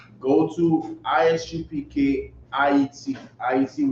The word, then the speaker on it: Ayiti: Go to Isupk IET, which is spelled AYITI, right? AYITI. That's how you say Haiti in Creole.